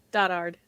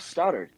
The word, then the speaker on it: Stoddard: Stoddard. Stoddard? I can't read. I said that already. I forgot to ask beforehand. I mean, no, it was close enough. Stoddard, yeah.